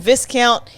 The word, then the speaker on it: Viscount: There's an S. I know, but the S is silent.